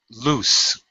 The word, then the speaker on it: loose: Loose. S pronunciation. Okay, be careful. LOSE is lose. as in you lost something. I lose my keys all the time. With another O, it's loose, and that's an adjective meaning the opposite of tight.